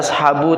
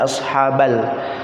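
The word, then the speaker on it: أَصْحَابَ: pun setelah rapat Indah pasti barisnya Fatah ashhaaba tidak dibaca Ashabul tapi ashabi dibacanya ashabal Inna sesungguhnya ashabal jannaty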